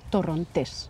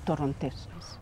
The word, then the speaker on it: Torrontés: This wine, we say in Spanish, we call it Torrontés. You emphasize, you put the stress on the last syllable, Torrontés.